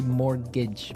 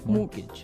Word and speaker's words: mortgage: Yeah, it has a T in it, but you don't pronounce it. You say mortgage. Mortgage.